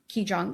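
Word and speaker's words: Qigong: your exploration of meditation and Reiki and um, Kijong. Am I pronouncing that correctly? Chiong.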